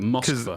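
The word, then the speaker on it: Москва: But there's not an option for Russian pronunciation. Russian, they call it Moskva.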